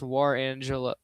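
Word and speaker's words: Jerangelo: The Cardinals got three prospects, and yeah, then they got uh Gerangelo, I think it's pronounced War Angelo yeah, Warangelo Sagente.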